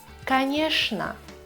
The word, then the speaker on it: конечно: Четвертое. ЧН. Читаем как Ш. Конечно, скучно и так далее.